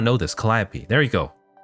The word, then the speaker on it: Calliope: Calliope. Oh my god, how did I not know this? Calliope. There you go. Calliope.